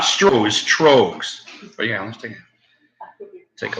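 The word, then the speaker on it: Tröegs: You think it's pronounced? Troegs. Troegs. Not Strohs, Troegs.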